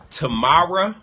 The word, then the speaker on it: Tamar: So what I will say is, no matter what we say about Tamara Braxton, I'll say her name correctly, Tamar Braxton, congrats to you in furthering your education.